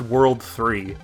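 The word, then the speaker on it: WWW: repair guy was working for this organization it's pronounced world 3 an infamous hacker group that plans to take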